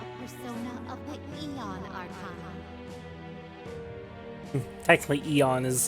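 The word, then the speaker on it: Aeon: like Caesar versus kaisar Eon is technically a little bit more correct than Aon oh I misspoke I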